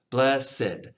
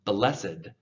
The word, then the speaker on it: blessed: easier for you to pronounce it as two syllables, blessed. Now, not all ED words work that way, just some. And this is one of those words. So blessed is the man. The first syllable still gets the emphasis though, blessed. So you want to make sure you draw that out.